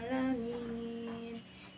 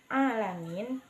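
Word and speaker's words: العالمين: Lalu pada kalimat hamdalah ini, kesalahan yang sering terjadi adalah ketidaksempurnaan pengucapan huruf ain tanpa penekanan pada alamin sehingga dibaca seperti alif atau a biasa, dan itu keliru.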